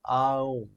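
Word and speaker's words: Aum: কথাটা যেটা আমরা ওম বলি ওটা বেসিক্যালি হচ্ছে আ ওম আ ওম এ ইউ এম এটা হচ্ছে আসল প্রোনাউন্সিয়েশনটা আচ্ছা আমরা একটা এনার্জি তাহলে তাহলে হোয়াট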